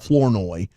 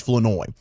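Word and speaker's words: Flournoy: Well, the R is silent. It is Fenoy. It's not Florenoi. It's Fenoi.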